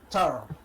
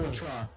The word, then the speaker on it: Petra: the hours, chosen of Tara. Tara? What? Or do you pronounce the P? Huh? Yeah, Petra. You said P. Okay, Petra.